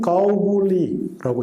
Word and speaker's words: 고구려: 우리는 고구려라고 읽습니다. 중국은 가오굴리라고 읽어요.